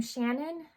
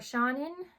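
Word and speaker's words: Seanan: But that quote is by, I think you pronounce this name Shannon or Shannon, because it's like Sean, like S-E-A-N, and then there's an extra A-N, so Shannon Maguire, definitely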